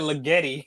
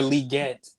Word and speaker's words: Legette: I just No, you said Legetti. He's how you say his name? Xavier Legette. Legette.